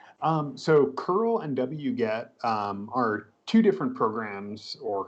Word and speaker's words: wget: So many of us pronounce it wget, but there are other pronunciations out there on the internet like weget. So if you hear some of our instructors saying weget, they're referring to the same tool as wget, wget.